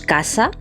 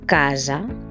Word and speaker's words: casa: la palabra casa casa no decimos casa sino casa pero resulta que en